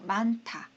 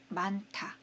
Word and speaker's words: 많다: 8페이지에 이런 거 나오는데요 요거는 이제 히읗과 디귿이 만났을 때는 그래서 많다 많다 이렇게 돼요 자 다시 한번 해